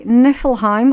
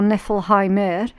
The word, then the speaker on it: Niflheim: Right, okay, Niflheim or Niflheimer, depending on what region you're pronouncing it from.